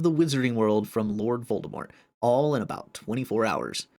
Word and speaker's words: Voldemort: Voldemort's name has a special meaning. Number one, it was originally supposed to be pronounced Voldemort. You do not pronounce the T because it is a French name, but it is also